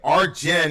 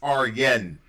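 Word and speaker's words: Arjen: oh by the way R Jen is pronounced R Yen that's right it's Jay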